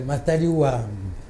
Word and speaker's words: Matadi-Wamba: Ah, bon, au village, c'est Matadi-Wamba. Il faut allonger le A, Matadi-Wamba.